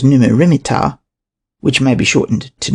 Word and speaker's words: Neb-mat-ra-mer-ptah: Another possibility is that it represents Amenhotep III, Neb-mat-ra-mer-ptah, pronounced as Numu-rimit-ptah, which may be shortened to Neb-mer-ptah or Mer-neb-ptah.